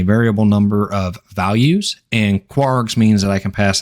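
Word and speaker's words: kwargs: then two asterisks and kwrs which is commonly pronounced as quarks I'm not going to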